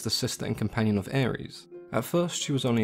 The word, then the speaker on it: Eris: pronounce her name was Aries which is actually not too dissimilar from the way we would pronounce the God of War Aries I'm sure there are